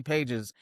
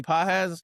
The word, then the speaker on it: Pages: And Andy, even though it's spelled Andy Pages, Andy Pages, the second Dodgers drop him, I can't wait to scoop him up.